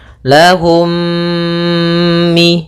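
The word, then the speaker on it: لَهُم مِّن: Cara membacanya, mim yang pertama dimasukkan kepada mim kedua dan ditahan gunnahnya. Lahum mi, gitu ya.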